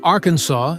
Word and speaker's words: Arkansas: Pronouncing Arkansas as Arkansas is mandated by Arkansas state law.